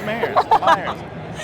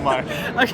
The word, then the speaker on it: Myers: And I am Meyers. Myers. Is that actually how you say it? Meyers? No, it's Myers.